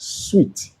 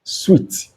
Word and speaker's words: suite: But this one with an E is pronounced sweet. Yes, sweet.